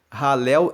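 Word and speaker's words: Hallel: Salmos 113 a 118 que são chamados de ralel egípcio ralel se escreve h a l l e l e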